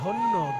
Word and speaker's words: ধন্য: আর আমি যেটা বলছি ধ দন্তের নয় হস্যি, এই ধনী মানে হচ্ছে ধন্য ধন্য। ধন্য শব্দটাকে হিন্দির মতন একটু ভেঙে উচ্চারণ করুন, উচ্চারণ হবে ধনিয়া।